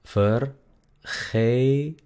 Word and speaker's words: vergeten: El verbo, por ejemplo, olvidarse, se escribe vergeten, pero se pronuncia vergeten, vergeten, vergeten, vergeten.